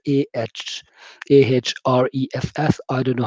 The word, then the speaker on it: Ahrefs: So you can use BuzzSumo, and then there is another website as well, which is called Ahrefs. I don't know how it's pronounced. It's Ahrefs.